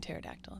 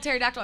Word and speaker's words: pterodactyl: spelt pterodactyl no where's the p it's at the beginning yeah it's yeah pt more like pneumonia it's a better one i was like if i had spelled pterodactyl i'm starting with a